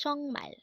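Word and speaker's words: 정말: sorry next word is chongmal again this is pronounced as chongmal and this is used to say really or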